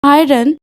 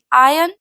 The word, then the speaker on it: iron: আচ্ছা, এখানে দেখো, এখানে IRON আয়রন অনেকেই এইভাবেই বলে থাকেন, কিন্তু অ্যাকচুয়াল প্রোনাউন্সিয়েশনটা হচ্ছে আয়রন, IRON আয়রন। এখানে আর হচ্ছে লিটল সাইলেন্ট, তো আমরাও সেভাবেই বলবো।